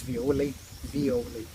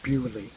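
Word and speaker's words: Violly: Her name is Violi, V-I-O-L-L-Y, and everybody calls her Bewley, because in the language of the Philippines, V is a difficult Yeah. it's a difficult one to pronounce, because there are not many words which start with the letter V.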